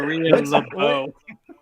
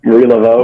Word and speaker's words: Marie Laveau: Maria LeBeau. Laveau. Maria Laveau. Marie Laveau.